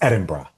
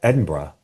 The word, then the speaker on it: Edinburgh: Someone did take me to task in a good way this weekend because Oh, about how you pronounce it. It's Edinburgh. That's like a frack eye guy. Edinburgh.